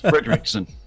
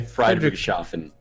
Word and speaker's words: Friedrichshafen: I am not going to try and pronounce this, but airport blank for X-Plane 11. It's Fredrickson. Fredrickson? Really? It's that simple? Fredrickson? Yep. Okay. Friedrichshafen.